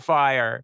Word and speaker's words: Fyre: Dumpster Fire. And fire is spelled like the festival, F-Y-R-E.